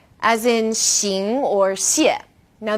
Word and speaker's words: xing: Now X as in xing or xie. Now this sound is somewhere in the middle of SH and S.